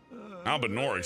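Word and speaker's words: Albinaurics: Albinorics, that's how you say it.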